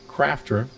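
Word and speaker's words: Qrafter: There is a paid program for the iPhone called Crafter, spelled with a Q, and that scans barcodes or QR codes amazingly fast.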